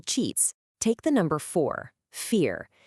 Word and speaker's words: vier: Take the number four, vier. In German, the V sound is often pronounced like our F. So, vier sounds a whole lot like four.